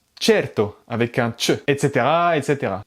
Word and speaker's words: certo: En italien, s'il y a ce mot, par exemple, un espagnol pourrait le prononcer certo. Mais en fait, c'est pas comme ça, c'est certo.